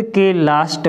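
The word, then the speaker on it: clue: उ से करते हैं जैसे बी एल यू ई इसको हम क्या पढ़ेंगे ब्लू क्या पढ़ेंगे ब्लू सी एल यू ई इसको हम क्या पढ़ेंगे क्लू यानी शब्द के लास्ट में य ई आता है तो ई साइलेंट रहेगी और य का उच्चारण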